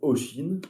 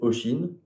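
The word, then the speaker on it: Oisín: Un de mes cousins s'appelle Oshin. Bon, je le prononce pas forcément, mais c'est Oshin. Et ça s'écrit voisin, comme le voisin, mais sans le V.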